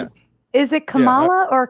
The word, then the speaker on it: Kamala: Is that how you pronounce it? Is it Kamala or Kamala? Kamala.